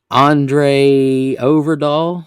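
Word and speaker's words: André Øvredal: interviewed for the role andre overdoll i guess is how you say it because it's got the o with the slash through it said they performed further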